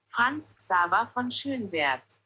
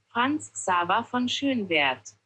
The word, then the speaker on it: Franz Xaver von Schönwerth: So, Franz Xaver von Schönwerth. Franz Xaver von Schönwerth.